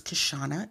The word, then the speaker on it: Kishshana: no my whole name is my name is kashana it is spelled k-i-s-h s-h-a-a-n-a my whole life you can